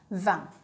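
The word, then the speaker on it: vingt: For 20, it is very short, 20. 20. Like you say 1, but you add V, 20. Right? But how will you write it? V-I-N-G-T, 20. T is silent.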